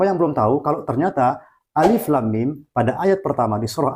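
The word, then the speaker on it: الم: perlu kita ingat bahwa huruf muqadha'ah seperti Alif Lam Mim ini cara membacanya adalah seperti cara kita mengucapkan nama hurufnya yaitu Alif kemudian demikian pada lafaz Allah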